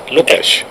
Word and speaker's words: Lukács: ¿Cómo se pronuncia Lukács? Lukács.